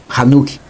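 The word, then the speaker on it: Hanokh: menção ao livro de Enoque o qual nós vemos que o nome dele era pronunciado hanuque Enoque no qual vemos o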